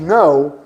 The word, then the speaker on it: know: O know do I don't know, o não escreve com K, mas não pronunciamos o K. E fica igual na pronúncia ao no do yes and no, no.